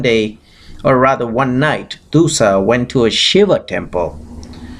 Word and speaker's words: Dussah: birth to a son who was named as Dussah, D-U-S-S-A-H. You can pronounce it, Dussah.